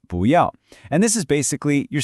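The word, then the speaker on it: 不要: This is 不要, pronounced 不要.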